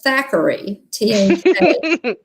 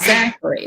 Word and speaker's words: Thackery: know that disney magic thackery banks is the older brother and his name is thackery not zachary a lot of people mispronounce that zachary zachary banks um follows